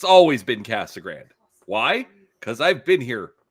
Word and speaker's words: Casa Grande: If you're a local like to the Phoenix area, it's Cassag Grand. It's always been Cassag Grand.